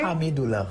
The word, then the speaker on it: Hamidulla: And Hamidoula, did I get the pronunciation correctly? Hamidoula.